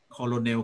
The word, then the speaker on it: colonel: receipt นะครับอันนี้ก็ recipeนะครับ recipe restaurant นะครับ restaurant salmon อันเนี้ยผมก็ออกเสียงผิดมาตั้งนานเนี่ยที่แปลว่ายศนายพันเอกเนี่ยครับ colonel colonel อยู่นั่นแหละครับ colonel colonel colonel แต่มันไม่ใช่นะ colonel ต้องอ่านออกเสียงว่า